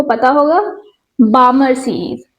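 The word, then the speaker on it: Balmer: बामर series. बालमर नहीं है। ये बामर है। बाल्मर एल साइलेंट है।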